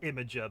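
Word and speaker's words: Imgur: It's pronounced Imager, but everybody knows it's spelled IMA.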